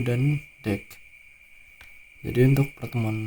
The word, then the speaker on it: deque: Jadi ini bacanya eh deck ya, bukan deq.